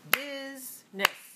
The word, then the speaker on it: business: talked about this word it looks like three syllables but it's really only two and that is business bu business all right